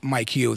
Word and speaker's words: Micheals: So, if if you look at my name, a lot of people call me Rip Michaels, but it's actually Rip Micheals if you actually actually look at how it's spelled.